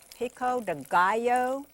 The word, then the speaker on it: pico de gallo: have to add your pico de gallo the only way i can remember how to pronounce it is because it rhymes with bio so i mean you